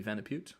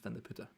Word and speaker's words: Vandeputte: Pronunciations for me are always tricky because from a Flemish point of view, you pronounce things totally different. Like my last name, Vandeputte, in English would be Vandeputte or Vandeputte, but in Flemish it's Vandeputte.